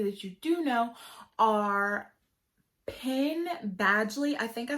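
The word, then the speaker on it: Penn Badgley: you do know are pin badgely i think i said it right but i think i always get it mixed up i want to say ben padgely but it's pin badly he is from gossip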